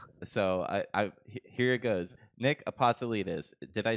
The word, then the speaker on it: Apostolides: Nick Apostolides.